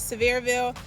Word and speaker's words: Sevierville: So we're going to Tennessee, and I think the way you pronounce it is Sevierville.